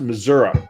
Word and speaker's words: Missouri: there is uh and that's pronounced missouri there's an a at the end of the state like there's no s in illinois either so you can always tell